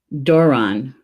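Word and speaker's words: dobhrán: Dobhran. Dobhran? Doesn't look like it's a long A. Dobhran.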